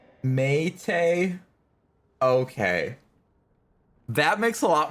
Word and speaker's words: mate: She's referring to the South American drink that's pronounced, Mate.